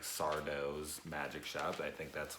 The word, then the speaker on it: Sardo: of the shop is Sardo. No Mr. Accent on the dough.